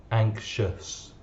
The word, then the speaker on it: anxious: man i am anxious the pronunciation of the ous is uh anxious anxious i feel anxious next one the management